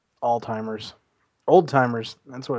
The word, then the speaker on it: Alzheimer's: There's no T in that word at all. Whatever. I'm not a fucking doctor. Right. Alzheimer's.